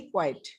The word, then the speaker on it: quiet: Ma'am वो तो क्विट होगा ना? Quiet. नहीं, क्विट नहीं, क्वाइट। Quiet. क्वाइट, क्वाइट।